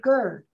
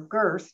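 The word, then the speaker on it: Gerðr: that uh frey married gerd or girth depending on how you pronounce that last deed so but to get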